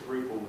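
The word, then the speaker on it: Ruppel: I also met a guy called Chris Rupel, who is responsible for the Modernizer module in Drupal. It's just coincidence that his surname rhymes with Drupal.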